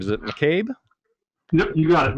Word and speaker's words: McCabe: Drew, I don't know if I ever got the pronunciation of the last name. Is it McCabe? Yep, you got it, McCabe.